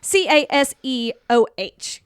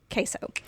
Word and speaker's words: CaseOh: Not spelled like the cheese. Right. It's Caseoh. Queso.